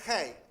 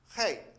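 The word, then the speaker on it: ה: letra del alfabeto hebreo, la H se pronuncia Hei, Hei, ¿sí? Así, tal cual. La H es Hei.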